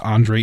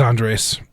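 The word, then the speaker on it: Andrés: to pronounce and that's Andre Iniesta I just think it's really fun when they say Iniesta Andre it is Andres Andres Iniesta and inest uh St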